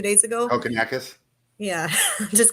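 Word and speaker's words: Kokkinakis: Kokonakis.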